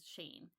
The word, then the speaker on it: Shein: if i'm wrong but everything i've read and watched says sheen so cool let's go